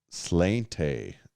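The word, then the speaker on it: sláinte: when they crack sparkling water we crack beer slainte what's or what do you is that like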